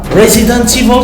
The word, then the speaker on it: Resident Evil: Resident Evil, c'est bien prononcé à l'anglaise comme Crabath Distillery.